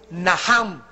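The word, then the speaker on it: נחם: el Antiguo Testamento es naham en el hebreo que se escribe nachan la ch en el hebreo se pronuncia como j y significa cambiar la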